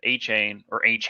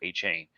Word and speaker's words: Achane: But once you have Raheem Mostert and A-Chan, sorry. That's right. He just corrected everyone today and says he wants to be called A-Chan, not A-Chain.